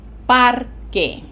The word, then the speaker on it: parque: We end with a vowel, no graphic accent, so it's parque.